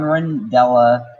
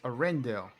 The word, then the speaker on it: Arendelle: Land will give fans a chance to walk around on Rindella and even take a trip on Wandering Oaken's Sliding Sleigh, a roller coaster. Ah. How did you pronounce that name wrong? It's Arendelle.